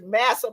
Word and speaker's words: Massa: explained to us, is massa plus whatever. Massa rhymes with passa.